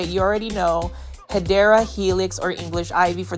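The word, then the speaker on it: Hedera: a random shout of Hedra Helix, but it's basically me mispronouncing a um plant name. It's actually Hideera Helix.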